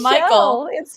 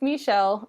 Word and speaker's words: Mikael: uh and spike same i was calling him michael michelle sorry uh yeah it's it's it's michelle uh it's you know